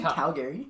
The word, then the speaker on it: Calgary: I live in You have Calgary. to cut out half the syllables. Calgary. Instead of Calgary. Well, Calgary. You're just adding a lot onto the G.